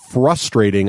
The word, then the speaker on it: frustrating: from the Prometheum from the USA says it's frustrating, not frustrating. Yes, he did. He said that I pronounce frustrating. I often leave the R out apparently.